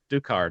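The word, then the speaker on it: Ducard: has fragile ghoul eventually i do do card apparently that's how they they pronounce it but yeah i it's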